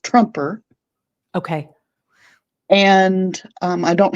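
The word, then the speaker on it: Troemper: The the one that I use for Trump is spelled T R O E M P E R and it's pronounced Trumper.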